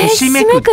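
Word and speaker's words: 犇めく: そうなんですよ、ひしめくって読むんだ、は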